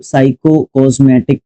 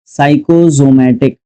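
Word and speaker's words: psychosomatic: Symptoms that are caused by the mind, उसको साइकोकॉस्मेटिक बोलते हैं। सबसे पहले इसकी स्पेलिंग ध्यान रखनी है, साइको, ठीक है, साइकोकोस, गलत मैंने ही बोल दिया। अभी आओ, साइकोजोमिक, जोमैटिक, साइकोजोमैटिक, ठीक है, साइकोजोमैटिक एडजेक्टिव के रूप में यूज करेंगे।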